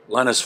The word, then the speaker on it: Linas: Okay, just want to make sure I'm pronouncing it right. Linas, about to break into stardom.